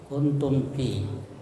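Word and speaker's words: كنتم في: sukun bertemu dengan Fa kuntum Fi kemudian ee itu disebut izhar syafawi ya cara membacanya mim disuarakan dengan terang ya mim Ya jelas di bibir dan mulut tertutup ya kuntum ya jadi mulut tertutup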